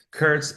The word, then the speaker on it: Kurcz: Curts. It's spelled K U R C Z.